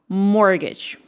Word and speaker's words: mortgage: Mortgage. No, it is mortgage. Mortgage. T silent.